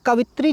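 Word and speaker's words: कवयित्री: अब देखिए कवित्री जो होता है उसका उच्चारण क्या होता है? कवत्री होता है। क्या होता है? क व इत्री। ठीक है? उच्चारण पकड़ लीजिए इसका।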